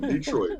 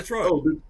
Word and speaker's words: Detroit: Detroit. Oh, y'all. Okay, that's the way y'all say it. It's Detroit. It's not Detroit. It's Detroit. Not Detroit.